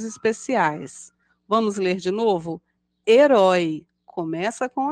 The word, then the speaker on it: herói: letra M assim acontece com as palavras herói e helicóptero todas começam com a letra h mas pronunciamos apenas a vogal e no início delas Observe herói pessoa que